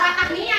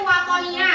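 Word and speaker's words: Wathaniyah: Iya, bacanya tahu bukan Watahnia, itu Watonia.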